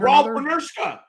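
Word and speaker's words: Rolf Benirschke: Rolf Benershka.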